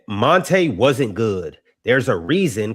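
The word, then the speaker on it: Monta: I don't think it's pronounced Monte Mont, but it's written Mont.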